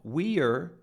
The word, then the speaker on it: we're: to point out that they become reduced. We're becomes were. Look at that. It's even spelled like were. We're sorry. Notice how short that is. It's not we're going to the beach, which is correct, of course. We reduce it to a simple were.